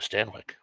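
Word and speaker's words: Stanwyck: Barbara Stanwick that sounds good I love Barbara Stanwick is how it's pronounced so Nick mamunas I'm not gonna say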